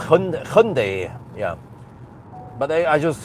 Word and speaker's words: Hyundai: It's called Hyundai. Yeah, but I I just say say you usually say Hundai. So that's that's wrong. I know it's wrong. It's Hyundai or Hyundai.